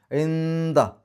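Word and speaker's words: عند: ഇന്ദ, താലിൻ്റെ മുമ്പ് സുക്കൂനിലെ നൂന് ഇഖ്ഫ ചെയ്യുക, മറച്ചു വെച്ചുകൊണ്ട് മണിക്കുക, അവ്യക്തമാക്കി മണിക്കുക. ഇന്ദ, ഐൻ എന്ന് വെളിവാക്കി പറയില്ല. ഇന്ദ റബ്ബിഹിം ജന്നാത്തു, നൂനിൻ്റെ ശബ്ദം മണിക്കുക.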